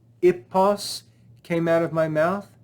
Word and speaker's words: hippos: In Greek, the word ipos or hippos is the name of a horse.